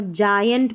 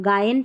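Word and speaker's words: giant: इसलिए हम जी को ज पढ़ रहे हैं। जैसे देखिए यहां पर जायंट पढ़ रहे हैं। हम गायंट नहीं पढ़ रहे।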